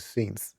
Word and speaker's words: Scints: The local currency is synths, at least that's how I believe it's pronounced, since we're on the planet Scintilla.